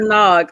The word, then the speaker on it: Nag: i say it right say your name for me pink eggnog there you go it's dr nog y'all so dr nog tell us a little